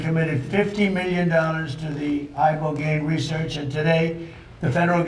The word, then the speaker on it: ibogaine: In 2024 study from Stanford University, 30 special operation veterans with traumatic brain injuries underwent, it's called ibogaine treatment. Ibogaine. Remember the name. Is that pronounced relatively properly, what you said?